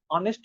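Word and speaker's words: honest: अरे ऐसा ही था, तो इसका प्रोनाउंसिएशन क्या होता है, ऑनेस्ट होता है, ऑनेस्ट नहीं, हॉनेस्ट नहीं होता, ऑनेस्ट होता है ना।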